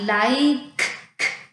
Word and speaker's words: like: I like. Sounds like a K. I like has a silent E at the end of the word.